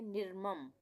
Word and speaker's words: निर्मम: निर्मम, इसको हम पढ़ेंगे निर्मम। निर्मम, आधे र का उच्चारण हो रहा है।